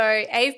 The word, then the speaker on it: Ave: So Ave Puglielli, did I say that right? I believe so. Ave, I believe is how you pronounce the name.